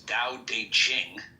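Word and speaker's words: Tao Te Ching: book you're referring to da de Ching pronounced more or less da de Ching can be translated as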